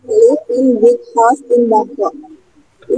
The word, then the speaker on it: Bangkok: Ya, from Australia, Thailand, kemudian Bangkok ya, bacanya Bangkok. Bukan Bangkok, bahasa Inggrisnya Bangkok ya. Bangkok, tapi bukan Bangkok begini ya. Itu Bangkok bahasa Indonesia ya.